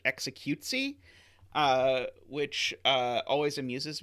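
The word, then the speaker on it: executie: dutch mole and so the dutch word for execution is pronounced something that sounds like executesy uh which uh always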